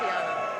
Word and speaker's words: Luciana: It's pronounced Luciana.